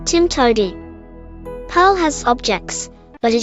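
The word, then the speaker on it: TMTOWTDI: there's more than one way to do it pronounced Tim toi Pearl has objects but it is more of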